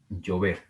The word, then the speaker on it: llover: Llover, llover. No decimos llover, decimos llover.